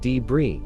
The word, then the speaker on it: debris: It's pronounced debris.